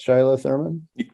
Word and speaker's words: Shiloh Thurman: That's how you say it, Shiloh Thurman.